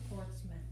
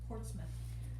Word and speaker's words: Portsmouth: town was foreign portsmouth it's pronounced portsmouth not mouth portsmouth and he doesn't list